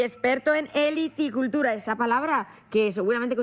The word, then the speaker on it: helicicultura: veterinario y experto en helicicultura esa palabra que seguramente que ustedes habrán oído muchas veces pero se la repito para que se aprendan suena muy bien se escribe con h helicicultura para que sí y